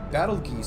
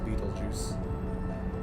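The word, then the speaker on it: Betelgeuse: possible effects of a battle geese supernova Beetlejuice I think I think it's actually supposed to be pronounced Beetlejuice um Supernova on the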